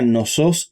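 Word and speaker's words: Knossos: En realidad se pronuncia nosos y festos.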